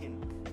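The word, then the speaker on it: Kʼin: Kin is how you pronounce it, but it's a flower. Kin. Oh, You okay. pronounce it Kin.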